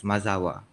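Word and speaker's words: Mazaua: In his account, Pigafeta describes arriving at islands he called Mazoa, pronounced as Mazawa.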